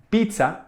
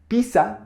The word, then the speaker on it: pizza: And so we say pizza and paparazzi in these words Doble Z sounds like TS Because this sound is not usual in Spanish, you'll hear people say in both pizza and pizza It is easy to